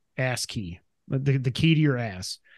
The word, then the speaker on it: ASCII: say ASCII or how do you say that it's asking I think it's I think it's ASCII ask key the key to your